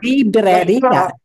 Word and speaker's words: librería: Librería. En español, por favor. Librería. Librería. Librería. Librería. Librería. Librería. Roll those R's. That's right. Librería. Really works out the R's.